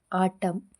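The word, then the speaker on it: autumn: ಇದಿಷ್ಟರಲ್ಲೂ L silent ಆಗಿದೆ N silent ಆಗಿರುವಂತ ಪದಗಳು ಎ ಯುಟಿ ಯುಎನ್ ಎಂಎಂ ಎನ್ ಆಟಂ ಅಂದ್ರೆ ಶರತ್ಕಾಲ ಹಚ್ ವೈ ಎಂ ಎನ್ ಹೈ ಅಂದ್ರೆ ಸ್ತೋತ್ರ ಸಿಓ ಎಲ್ ಯುಎಂ ಎನ್ ಕಾಲಂ ಅಂದ್ರೆ ಸ್ತಂಭ ಇವು ಮೂರು ಪದಗಳಲ್ಲಿ ಎನ್ ಸೈಲೆಂಟ್ ಆಗಿದೆ ಟಿ ಸೈಲೆಂಟ್ ಆಗಿರುವಂತ ಪದಗಳು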